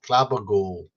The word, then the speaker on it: Glabagool: You got his name wrong, Drodin. It's Glabagool.